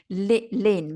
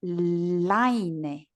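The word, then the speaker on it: Lynne: Well, my name, could I say, my name, Lynn, my name is Lynn, L-Y-N-N-E. In Spanish, people will try to say line or line or line. Yeah, they have no idea how to pronounce that.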